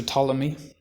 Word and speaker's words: Ptolemy: the telemach theory after ptolemy and that's spelt with a p so it's pt um